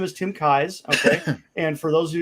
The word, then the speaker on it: Keyes: challenge pronouncing my name it's like the eyes in your head with a k in front of it kai's okay i frequently pronounce it keys especially if i'm not